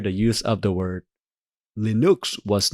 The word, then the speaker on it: Linux: People pronounce Linux, but it's not actually pronounced Linux. It's actually pronounced Linux, which what I call it in my country, in my language, we call Linux as the actual creator intended.